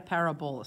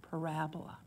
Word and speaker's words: parabola: Not a parabola, stop saying it wrong, parabola.